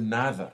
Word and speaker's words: nada: The word nada, for example, you can say nada or nada, nah. Nah, it just goes away.